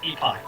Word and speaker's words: Epoch: to call it epac it probably could be pronounced epic but it's Epoch man I don't know what